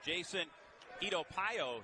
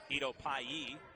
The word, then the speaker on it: Itopayi: Jason Itopayo has checked in. Itopayi is proper pronunciation on that.